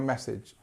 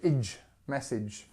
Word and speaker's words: message: I've just seen your message make sure you say message and actually lots of people say AG message so I've just seen